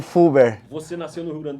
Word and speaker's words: Fulber: Filber. Filber. Tinha uma trema, né? Mas a gente tirou, né? Aí ficou o Fuber.